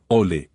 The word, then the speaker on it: au lait: La prononciación de «au lait» peut être un peu délicate. Essayez de dire «ole» en liant les deux mots.